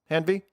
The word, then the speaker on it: Hanvey: Did I pronounce that right? Hanvey? Yep, Perfect. that's correct.